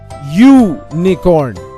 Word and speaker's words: unicorn: of the word unicorn here the vowel U has a consonant sound or the sound of the letter Y we say u nakorn we use o before